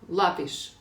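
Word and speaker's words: lápis: Лапіш тільки. Ну да, наголос на а треба поставити ще.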